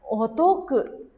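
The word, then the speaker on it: お得: Jadi ini dibacanya otoku. Kanji ini meraih ini dibacanya toku ya, toku.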